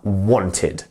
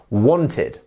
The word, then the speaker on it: wanted: so ID we have wanted wanted can you repeat that wanted it's very important that you pronounce the ID at the end so wanted wanted not want not W it's wanted there we go next